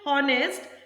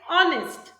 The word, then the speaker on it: honest: Means when H is coming with O, H goes silent. Honest. We don't say honest, we say honest.